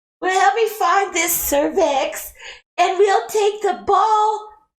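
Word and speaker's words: Sir Vex: No, it's spelled SIR space VEX, cervix, not service like your lady bits.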